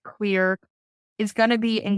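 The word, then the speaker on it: Xlear: a saline or xclear I say xclear but it's pronounced clear is going to be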